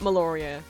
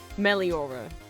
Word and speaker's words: Meliora: It's not Meloria. That's not how it's spelled. What is it? I always say Meloria and that's not what it is. It's Meliora.